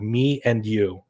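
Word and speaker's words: MENU: __ ] you're not they're literally called me and you that's their names yeah and it's about it's spelled me m-e-n-u so um does this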